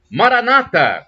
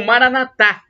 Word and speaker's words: Maranata: de Jesus eu clamo Maranata como dizem os protestantes com a tônica na penúltima sílaba ou Maranatha como dizem os católicos com a tônica na última sílaba E aí e não